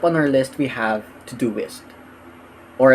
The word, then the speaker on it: Todoist: our list we have to do list or at least that's how I think it's pronounced it's spelled t-o-d-o-i-s-t and when you want